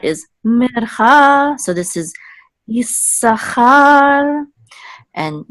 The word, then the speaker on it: Issachar: So Issachar is mercha. So this is Issachar.